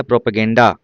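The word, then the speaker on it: propaganda: ऐसे एक शब्द आता है प्रोपगेंडा। पी आर ओ पी प्रोपोगेंडा पढ़ते हैं प्रोपो लेकिन लिखते हैं पी आर ओ पी ए प्रोपागेंडा है ना प्रोपेगेंडा ध्यान रखिएगा।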